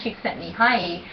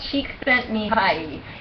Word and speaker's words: Csikszentmihalyi: into that so that a guy named Mihai csikszentmihalyi went and heard Sigma not Sigmund Freud I'm Carl Jung he went to hear dr.